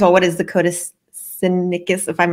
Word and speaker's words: Sinaiticus: what is the Codex Sinaiticus? If I'm not saying it right, please correct me. Sinaiticus. So basically, at least that's how I've heard scholars say it.